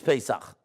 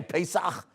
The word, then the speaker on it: Pesach: You know, like, they can't say Pesach. No, the Goyim can't say the CH, right? That's why they call it Hanukkah. So, right? They can't say the CH, right?